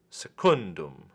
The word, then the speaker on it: secundum: the penalty mo next secundum secundum also accented on the penalty ma because it is